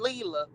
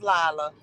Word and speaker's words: Lila: Oh, I've been saying her name wrong. I call her Leela. You right. It is Lila.